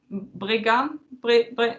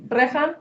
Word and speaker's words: Breacan: I tried to pronounce it - 'brigan'? No, I'm butchering it- - Breacan. - Breac... yeah. Something like that. It's spelt 'bre-a-can', so, yeah, whatever.